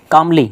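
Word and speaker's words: calmly: तो चालक चालक ने कामली देखो य कामली एल साइलेंट रहता है इसमें काल्म नहीं होता य क्या होता है काम और कामली कामली मतलब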